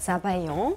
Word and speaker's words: Sabayon: Habe ich richtig gesagt Sabayon? Genau. So spricht man das aus.